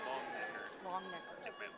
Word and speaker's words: Longnecker: The E is silent, so long necker.